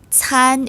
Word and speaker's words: can: 표기 합니다 2번 문제 한어 병은 can 한국어로 산 이라고 발음합니다 정각은 5 아니면 x 네 맞습니다 성모 쓰는 한국과의 칩과 운무 아닌 한국어의 안과 발음이 비쌉니다 그래서 can 은 사안 으로 발음합니다 섬 범죄 의 숫자